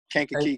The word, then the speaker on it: Kankakee: You went on to do what at Kankakee? Am I saying it right? Kankakee Community College.